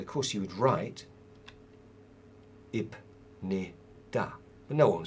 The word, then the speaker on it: 입니다: So the rule is that the p sound, the p sound, assimilates with the next consonant, the first consonant of the next syllable block, and becomes 입니다. 입니다. Easier to say, facilitates the pronunciation.